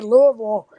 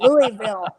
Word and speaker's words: Louisville: long ways but um I noticed you say it you say Louisville which is a correct way and a lot of people are paying Louisville or horrible yeah I was getting